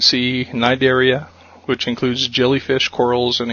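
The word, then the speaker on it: Cnidaria: though uh you would think this would be pronounced cinderia but it's actually a silent sea nidaria which includes jellyfish corals and Etc pathophys ology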